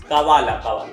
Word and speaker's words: Kaavaalaa: कावाला यस, कावाला। Actually उसमें double A double A double A तीन कावाला है वो।